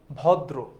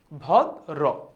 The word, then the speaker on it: ভদ্র: দেখো উচ্চারণ হচ্ছে এইরকম না ভদ তারপর হচ্ছে দ র ওকার ভদ্র দেখেছো ভদ্র ওকে তার মানে মোরাল অফ দা স্টোরি হচ্ছে